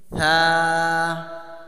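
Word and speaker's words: ث: থা সা থা। থাটা নরম, এই থা, থা ফার মতন যেন উচ্চারণ না হয়ে যায়। সা থা আর ফা, থা।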